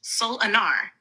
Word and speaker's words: Solanar: He is called Solanar, pronounced Soul Anar.